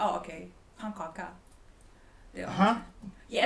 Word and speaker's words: pannkaka: Pannkaka. Yeah, it's called pannkaka. Pannkaka? Yeah. Pannkaka. Pannkaka. Am I saying it right or wrong? Say it again. Pannkaka. No, pan. Kaka. Pannkaka. Pannkaka.